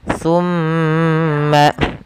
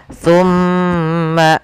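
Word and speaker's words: ثُمَّ: dan mim berharakat tasdid Apabila ada nun tasydid dan EE mim tasydid maka ia kita tahan dan kita masukkan ke rongga hidung kita pelafalan nya tumma tumma sambil ditahan dua harakat Kemudian tawallaitum pada lafal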